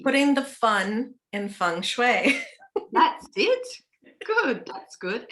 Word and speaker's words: feng shui: It's an interesting topic because just straight up, people read the word feng shui and it's spelled F-U, yeah, F-E-N-G, but it's actually pronounced F-U-N-G.